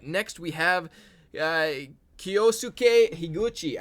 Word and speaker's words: Higuchi: we have uh kiyosuke higuchi i think that's how to pronounce his name it's definitely higuchi though higuchi higuchi or higochi one of those three probably uh because uh